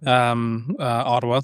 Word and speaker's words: Ottawa: Natively, we pronounce it as Ottawa. So you think there's the letter D's in there.